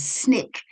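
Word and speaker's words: SNCC: The student nonviolent coordinating committee pronounced as snick like the candy bar was based in Atlanta, Georgia.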